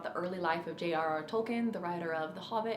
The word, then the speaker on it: Tolkien: not that many people talk about it is tolkien and i learned from that film the correct way to say j.r.r tolkien's name isn't tolkien it's tolkien i didn't know that before the